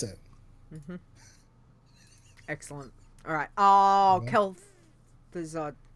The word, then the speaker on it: Kel'Thuzad: done that there you go that's how you pronounce it excellent alright Oh kel'thuzad kel'thuzad in Borean tundra that's right that's right yeah